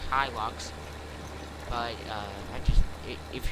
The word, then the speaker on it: Hilux: who say he looks like a squad or high locks like i do personally and i could go into the comments of the squads video and say you're saying it wrong say it right it's pronounced hilux but uh i just if you're just gonna